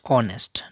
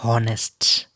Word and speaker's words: honest: honest it is pronounced it is pronounced honest not honest honorable honorable honest and honest